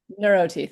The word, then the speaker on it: NeurOT: NeurOT, thank you. I was like, I'm not sure I'm saying that right. NeurOT Consulting to train other providers in the holistic mindset that defines her practice.